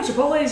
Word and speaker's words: Chipotle: but I chipot chipot you said oh man they're going to make fun of you for say it like that you're done it's Chipotle Chipotle uhhuh Chipotle uh the